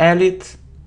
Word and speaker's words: elite: catch and it isn't Elite and it isn't Elite it's e elite elite and the stress is on the second syllable it's also very important